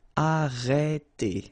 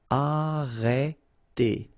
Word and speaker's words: arrêter: Okay, remember when you get this accent circonflexe on the top of E, then you get the sound E. Okay, so it's really open. It's E. Okay, so arrêter. And then final ER here, as usual, E.